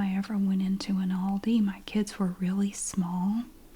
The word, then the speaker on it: Aldi: Aldi or whatever in the USA it is pronounced Aldi I did confirm that with Al the USA